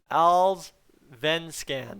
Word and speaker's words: Allsvenskan: He's been over in the Allsvenskan, I think it is. Oh my goodness. Somebody corrected me on this the last time and I absolutely butchered it. Let me get this. Allsvenskan.